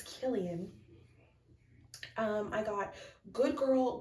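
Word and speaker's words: Kilian: wear our killan honestly or Killian I knew it I knew it was Killian o I tried to convince myself that I was saying it wrong all that time I was saying it right and then I started saying it wrong it's Killian um I got good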